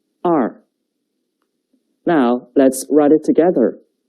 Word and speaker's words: 二: The pronunciation is 二. 跟我读. 二. 二.